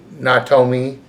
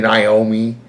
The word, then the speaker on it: NAOMI: It the O is silent in in in the it's it's supposed to be Nattoi. Nomi and and and not Naomi. Most people say Naomi and and it's not called Naomi, it's Nati.